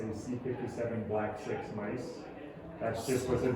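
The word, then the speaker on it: C57BL/6: so you know the the most common way of pronouncing that strain of mice is to say c57 black 6 mice that's just what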